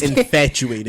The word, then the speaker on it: infatuated: were infatuated I think you saying it wrong there's no X or C in it it's infatuated look I'm just saying it